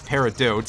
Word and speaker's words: peridot: Oh hey, a peridot, which I always used to pronounce as peridot as a kid, probably because that's how it's spelt, but it is apparently pronounced peridot, or perhaps peridot if you're very silly.